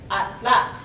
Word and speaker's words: atlas: Interestingly, we have the TL consonant cluster in the same syllable, where Spanish typically separates these two. If we look at the example, atlas, atlas, is how it's typically, but in Mexican Spanish, you can hear atlas, atlas. And this comes from the influence of Nahuatl, that in its name has that final TL.